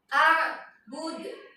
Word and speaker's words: a'bud: A'bud, ayat kelima, a'bud. A'bud ini asal tulisannya a'budu. Coba kalian lihat dalam Al-Qur'an ya. A'budu, tapi bacanya a'bud.